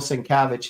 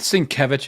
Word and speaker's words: Sienkiewicz: had, do you have this whatever by Bill Sienkiewicz?